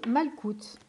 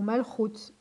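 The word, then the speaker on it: מלכות: Et pour finir, vous avez Malkout, ou Malchut, ça dépend comment vous le prononcez.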